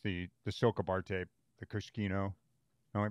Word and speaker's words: Cuscino: So, and then Josh, the SILCA bar tape, the Cuscino. Am I pronouncing that right? Cuscino.